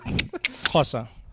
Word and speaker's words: Xhosa: Yeah, it's a click. Xhosa.